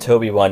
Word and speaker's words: TOB1: tob1 a droid named tob1 pronounced toby one if you say it fast enough has been given life